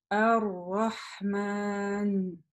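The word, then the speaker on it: الرحمن: И, соответственно, лям у нас не читается, но мы удваиваем и читаем следующую букву «Ра».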